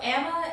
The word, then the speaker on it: Ama: And then since middle school, everyone just sort of called me Emma. It's funny about the pronunciation, because I'm sure in middle school that changed 1,000,000 times before I settled on Emma, so it was probably Emma, Amma forever too.